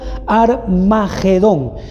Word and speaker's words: Armagedón: monte de meguido iglesia es ar marido pero se le pronuncia armageddon y éste se encuentra